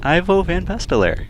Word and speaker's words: Ivo Van Pastelaar: I'm Jake Shuknik, joined again by Ivo Van Pastelaar. Did I pronounce that right? That's right.